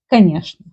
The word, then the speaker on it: конечно: There is a rule in Russian language when instead of чны, they pronounce like шны. For example, word конечно.